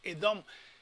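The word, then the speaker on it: אדום: Si la Aleph, que es muda, esta es la Hatef Segol, media vocal, la media Segol, pero sigue siendo vocal que se pronuncia. Entonces dice esta es la Dalet, esta es la O larga, Holenbab, y es la Menfimia, que es Edom.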